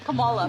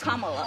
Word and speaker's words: Kamala: how to say her name earlier you said Kamala way she pronounces her name is Kamala you don't work with her either see that